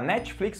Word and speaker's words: Netflix: né Netflix Netflix tipo a língua só dá uma relada no céu da boca Netflix E aí sai